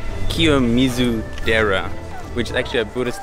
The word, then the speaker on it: Kiyomizu-dera: that we are at now is uh called kizu Dera which is actually a Buddhist temple yeah so